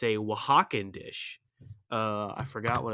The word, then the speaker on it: Oaxaca: meaning goes no okay so oaxaca not spelled thank you not spelled like you think it's o a x ac or something i don't know if